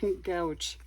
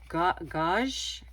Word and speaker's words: gouache: this one right, because I thought it was gouge. But from what I understand, is sort of has the pronunciation like ganache, gouache, something like that.